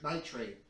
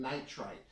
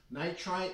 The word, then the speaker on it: nitrite: in a few of my other videos I pronounce it sodium nit nitrate and I correct myself it's sodium nitrite nitrite uh is a chemical you have to be